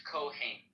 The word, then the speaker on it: Cohen: Yeah, in Hebrew it's Kohen.